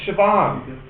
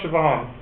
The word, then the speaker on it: Siobhan: know how spell some of these Irish names sioban how do you spell Siobhan it has a g in it it must